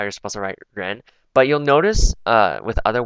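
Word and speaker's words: 人: Like this is a downward arrow, so this pronunciation tone is like ren. So you go up when you say it.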